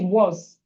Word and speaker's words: was: I will never write a, but as it is, the pronunciation is was. The pronunciation is was, but we don't have all that. We have a, so the a is sounding like o.